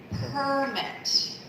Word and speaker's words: permit: Number 7 is a noun. Following the rule, for nouns, the syllable stress is on the first syllable. Permit.